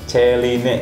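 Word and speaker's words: Céline: Selanjutnya nomor 50 ada brand dari Celine atau Celine, dibacanya apa nih? Celine gitu ya.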